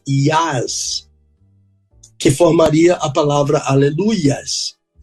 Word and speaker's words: Aleluia: Deus não é ias que formaria a palavra aleluias o nome de Deus é Iá E a pronúncia correta é Aleluia ou no hebraico Aleluia